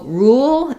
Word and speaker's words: rule: Rule and roll so rule is like we were talking about with our school pool thinking of that one as the tense oo sound rule um so think about